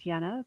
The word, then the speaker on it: Jana: you pronounce your name i pronounce it yana but all pronunciations are very welcome and i enjoy them